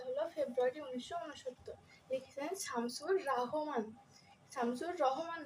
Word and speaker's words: রহমান: তো আমাদের কবিতা হলো ফেব্রুয়ারি 1969, লিখেছেন শামসুর রহমান। শামসুর রহমান না, এমসিকিউতে যখন আসবে হয়তো শামসুর রহমান থাকবে, রহমান থাকবে। আমরা ভাবি যে রহমান আবার হয় নাকি, হবে রহমান, কিন্তু না, এখানে হবে রাহমান।